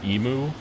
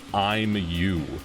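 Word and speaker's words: Imu: I don't spoil it, the main antagonist's name is spelled I-M-U, like emu. And somebody said, like, there was like, we're pronouncing his name wrong. It's literally, it's spelled and it's supposed to be interpreted as I'm you, as in I-M-Y-O-U.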